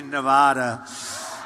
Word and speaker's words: Nevada: I said when I came out here, I said, nobody says it the other way. It has to be Nevada, right?